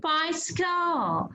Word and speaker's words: bicycle: juicy cyclin pi skull pi skull there are two c in pi skull the first one we pronounce it s because there is y after c the second c we pronounce it as k because there is l